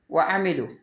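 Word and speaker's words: وَعَمِلُوا: അലിഫ് ആയിട്ട് വരും ആമനു വഅമിലു ആമനു കഴിഞ്ഞിട്ട് നിങ്ങൾക്ക് ഇങ്ങനെ ഇത് കാണാം സുക്കൂൻ ഉള്ളത് വഅമിലു കഴിഞ്ഞിട്ടും ആ സുക്കൂനുള്ള അലിഫ് കാണാം അതെന്തിനാ ആമനു വഅമിലു എന്ന് ഖുർആനിൽ എഴുതിയിട്ടുണ്ടാവും പക്ഷെ എന്തില്ല ഈ മുദവ്വറായ സുക്കൂൻ കണ്ടാൽ അതിന് ഉച്ചാരണം ഉണ്ടാവില്ല അമിലു അമലു എന്ന് ഉച്ചരിക്കേണ്ട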